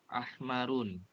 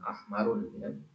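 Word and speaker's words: أحمرُ: dulu ahmarun isyaratun mururin ahmarun asfarun ahmaru asfaru akdoru Perhatikan ya tiga ini tidak ada tanwinnya ya ahmaru asfaru bukan ahmarun isyaru tadi isyar bukan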